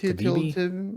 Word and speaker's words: Taibbi: I never know how to pronounce the journalist's last name, but the Twitter Files guy, Matt, is it Taibbi?